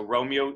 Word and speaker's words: Romeo: carrion flies then romeo they may seize so romeo there does does allied two syllables so you can see as we create